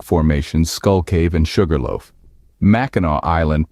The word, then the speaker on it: Mackinac: and unique rock formations Skull Cave and Sugarloaf maau Island pronounced maau not maak comes from the Native American tribes before before